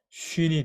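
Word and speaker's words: שׁין: 점이 중요한데 점이 왼쪽에 오면 이게 sin이 되는 거고요. 발음이 sin이 되는 거고 오른쪽에 오면 쉰이 됩니다.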